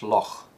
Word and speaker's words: loch: The dark L is used in all contexts, and the glottal fricative may be used in words of Gaelic origin that end CH. So a phrase like a large loch in Scotland is likely to be pronounced a large loch.